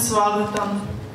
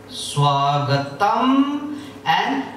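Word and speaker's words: स्वागतम्: Ma is pronounced half.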